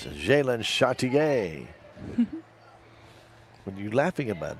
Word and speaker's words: Chartier: It's Jalen Chartier. What are you laughing about? That's how you say it. Very Jalen French. Chartier. And she is French. French heritage.